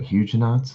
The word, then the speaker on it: Huguenot: Huguenots. Huh. And am I saying it right? Huguenots? I'm sure it's French, so it might be pronounced differently, but probably not pronouncing the T.